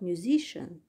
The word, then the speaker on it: musician: For example, music, the first syllable is stressed, but musician, the second syllable is stressed.